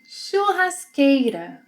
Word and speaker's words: churrasqueira: Churrasqueira. Churrasqueira. The CH sequence must be pronounced as sh.